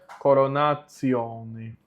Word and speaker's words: coronatione: Aqui mais uma vez o T com I mais a vogal O, fica TSI mais vogal. Então a pronúncia fica, não é tio, é tissio. Então fica coronatione.